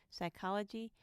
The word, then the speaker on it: psychology: And silent P in PT, PS, and PN, as in pterodactyl, psychology, mnemonic.